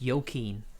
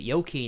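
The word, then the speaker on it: Joakim: Rocking by the way apparently it's yo keen you actually pronounced it yo keen in Sweden espera it's a Swedish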